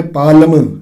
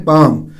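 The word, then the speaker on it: palm: तो इससे भी जो स्पेलिंग के बीच जो एल है पी ए एल एम ठीक है इसमें कुछ बच्चे कहने के ए है पालम नहीं इसमें पालम नहीं किया जाता है इसमें ठीक है हथेली चढ़ी हूं उसे वक्त ये वर्ड उसे होता है पैम अगला जो है बोलना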